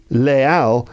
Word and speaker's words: les Halles: I think it's because there's an H in the spelling, even though there's no H in the pronunciation, and so that's why you don't link them with an intrusive Z.